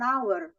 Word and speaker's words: hour: meneringkan at Saya mengerti misal an Hour Hour itu sebetulnya dibacanya tapi tulisannya Ha jadi kan seperti itu Jadi